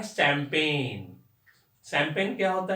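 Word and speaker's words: champagne: इसका भी spelling S से नहीं होगा, सी से होगा, CHAMPA, यहां तक चंपा, है ना। और उसके बाद GAINE, शैंपेन। शैंपेन मतलब ड्रिंकिंग बॉटल, है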